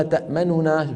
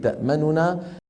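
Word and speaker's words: تَأْمَنَّا: الوجه الثاني الإشمام، وذلك بتسكين النون الأولى وإدغامها في الثانية مع ضم الشفتين من غير صوت، بعيد البدء بنطق النون المدغمة.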